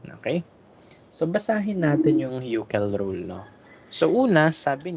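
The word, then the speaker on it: Hückel: So, hindi ba, ang basa dyan, Euchel. Okay, kasi the umlaut, the U na may double dot, it's UE. UE ang pronunciation.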